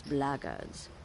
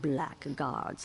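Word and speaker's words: blackguards: another one of those bloggers and that's the way to pronounce it not black guards like that Thug insisted it was then my answer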